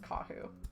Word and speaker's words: Kahu: their character's name is kahu uh or kahu kahu i think it's kahu emphasis on the first syllable um and we also